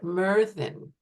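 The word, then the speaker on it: Myrddin: didn't want to do that to you so Merin is how it's pronounced and meran is um the Welsh um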